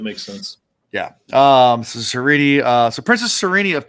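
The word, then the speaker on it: Sarene: It's Sereni. um is how it's pronounced even though it looks like Serene. Uh that's the way it's spelled. S A R E N E, but it's Sereni.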